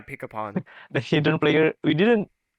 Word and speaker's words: Pikapun: Wait, how do you pronounce it? Pikapun? Yeah, pick upon.